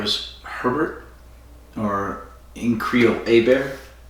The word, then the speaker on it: Hébert: It was Herbert, or in Creole, Hébert. Hébert is... Okay, you see the word Herbert? It's for Herbert. Okay? And in Creole, it's pronounced... That word is pronounced Hébert. Huh.